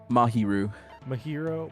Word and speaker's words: Mahiru: Mahiru.